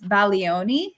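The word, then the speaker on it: Bologna: country uh remember it's baloni so uh we're learning every day right so now Italian class uh the G you do not pronounce the G uh so uh we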